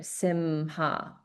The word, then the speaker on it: Simha: Simha. Simha. Okay. So you can hear that there's a slight pause on this sound.